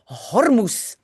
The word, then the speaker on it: Hormuz: So the 11th article we're reading says the Straat van Hormuz is open. And like in English, you pronounce the H.